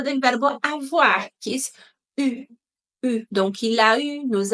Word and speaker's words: eu: Y atención a la pronunciación del participio pasado del verbo avoir, que es eu.